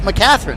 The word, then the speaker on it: McCatherine: And I've heard my guy TJ DeSantis say it over and over again, so it's McCatherine, is that right?